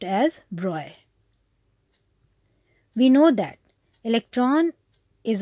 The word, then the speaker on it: Broglie: The name is written Broglie, but it is pronounced as Broglie.